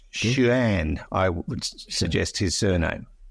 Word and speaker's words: Xuan: And Jerry is a bloke, so look, forgive me, Fred, but I think the Chinese pronounce their X's as sh, so it's Xuan.